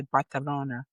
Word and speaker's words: Barcelona: The C sound in many parts of Spain, the letter C before an E or an I, and the letter Z are pronounced with a TH. So when you hear someone say Barcelona, they're not lisping. It's actually how they pronounce it.